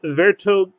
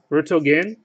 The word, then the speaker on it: Vertonghen: And Red Refractor, John Vertonghen. Right? Vertonghen, he said the H is silent.